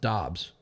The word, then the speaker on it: Dobbs: he came out and said it's pronounced Dobbs like he shouldn't come